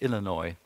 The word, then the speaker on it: Illinois: of tax increases in the US state of Illinois. Is that how you pronounce it? Illinois.